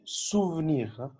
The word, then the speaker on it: souvenir: Ok, souvenir. Le E au milieu, on ne le prononce pas.